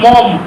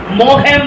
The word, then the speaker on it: Maugham: William Somerset মম, মগহ্যাম নয়, হ্যাঁ দয়া করে প্লিজ এই উচ্চারণটা করে কেউ মগহ্যাম এরকম টাইপের উচ্চারণটা হচ্ছে উইলিয়াম সমারসেট মম, ঠিক আছে?